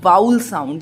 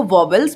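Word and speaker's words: vowels: तो याद रखिएगा हमारे इंग्लिश लैंग्वेज में AEIOU ये है हमारे वाउल साउंड, जिसे आप बोलते हो वॉवेल्स, बट एक्चुअल प्रोनाउंसिएशन क्या होता है? वाउल्स।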